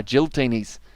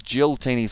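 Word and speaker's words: Giltinis: there is certainly uh it's pronounced uh giltini's as well uh like the word guilt gil guiltiness is it guilty next ah okay see i always thought it was jill tinies for some reason and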